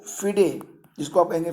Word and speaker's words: FIDE: और वर्तमान में अगर हम बात करें तो फिडे, जिसको आप कहेंगे फिडे, इसका जो हेडक्वार्टर है वो लुसाने में है।